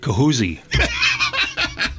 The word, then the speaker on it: Chaussee: Chaussee. It's Chaussee. I don't know where they got Chaussee from. It's got a CH at the beginning. Where'd they get that from?